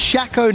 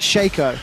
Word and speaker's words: Shaco: It's pronounced Shaco, not Shaco.